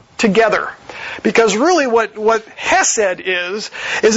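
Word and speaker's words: חסד: It's the Hebrew word hesed. You can all say it with me. It sounds like you're choking, because that's the way they pronounced Hebrew.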